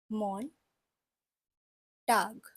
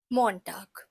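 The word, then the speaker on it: Montag: one in German so in German Monday is mon tag monag Tuesday is teen St we should all know that tag uh tag Means Day in German that's why we have a tag at the end mon tag de St then we have F Wednesday which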